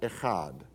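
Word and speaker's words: אחד: So you would pronounce it echad.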